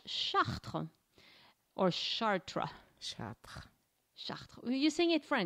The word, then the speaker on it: Chartres: the in the American if I say sh people say what's that so it's it yeah you have to have the r otherwise it just doesn't sound most people